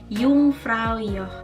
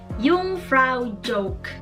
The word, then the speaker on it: Jungfraujoch: huruf j dalam bahasa Jerman tidak dibaca seperti j&j seperti dalam Bahasa Indonesia tetapi dibaca itu seperti huruf y jadi you pray your Jadi bukan jungfraujoch jadi itu tadi 5